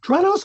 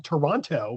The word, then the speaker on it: Toronto: You pronounced Toronto correctly. Oh, thank you. A lot of people You did not pronounce the T, which is a lot of people say, "How is it in Toronto?"